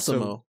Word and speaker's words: ASIMO: That robot is Asimov like is a man. No, ASIMO. ASIMO. His name is ASIMO.